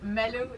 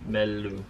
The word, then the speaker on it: Melu: Our first crew member is Malu. I'm pronouncing your name correctly, aren't I? Yeah, it's really hard to say because it's Melu in Danish. There we go. Melu.